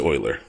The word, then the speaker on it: Euler: link to project well I'm pretty sure it's Euler even though it's spelled to Euler it's it's project Euler and a lot has